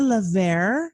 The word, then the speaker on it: LeVert: Um gang, I have the absolute pleasure of having Lever on the show today. Is that how you pronounce your last name? That's the way it's pronounced correctly, but most Americans will say Levert.